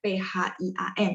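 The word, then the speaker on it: 便宜: ya 便宜 ya PH PH. Jadi kita tambahin H secara sadar. Oh ini bacanya PHIAN gitu ya.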